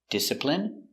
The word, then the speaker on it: discipline: so remember these words words ending in i and e can have different pronunciations all of these have the sound in Imagine examine engine discipline feminine and masculine thank you for watching